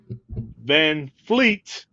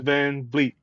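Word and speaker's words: VanVleet: l e t also so van Fleet versus Van Vleet I always thought it was Fleet for the longest and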